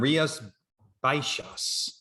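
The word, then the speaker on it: Rías Baixas: the columna Albarino from rias baishas in Spain okay is that really how you pronounce it it has an X in it but it's a show okay so Ria spices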